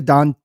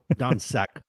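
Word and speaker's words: Dončić: Luka Doncic. Doncic.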